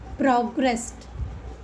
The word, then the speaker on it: progressed: The ed come as the pronunciation with the t progressed.